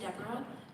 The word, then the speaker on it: Deborah: you mind saying your name ND number and spell it it needs to be spelled sure my name is Deborah d e b o r a h